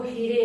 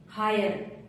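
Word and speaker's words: hire: आई आर ई हायर इसको हीरे नहीं पढ़ेंगे हायर tyre T आई आर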